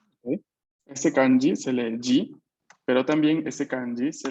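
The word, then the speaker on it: 時: Este kanji se lee G, pero también ese kanji se lee toki.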